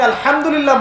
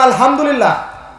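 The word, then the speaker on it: الحمد لله: উচ্চারণ কোথা থেকে করতে হয়? মাঝখান থেকে। মাশাআল্লাহ। এখানে যদি আপনি আলহামদুলিল্লাহ বলেন, অর্থ হচ্ছে সমস্ত প্রশংসা কার জন্য? আল্লাহর জন্য, রব্বুল আলামিন, তিনি জগৎসমূহের প্রতিপালক। যদি বলেন আলহামদুলিল্লাহ, বড় হায়ের জায়গায় ছোট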